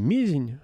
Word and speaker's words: Мезень: Я, причем, прошу прощения, сразу перед всеми, кто в теме, я постоянно ставлю неправильное ударение, потому что Мизень — это Мезень, и город Индиго, куда мы ехали, он произносится